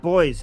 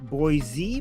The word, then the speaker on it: Boise: But we remember it was not boys. It's Boise. Boise. Boise.